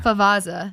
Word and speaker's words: Favazza: Favazza.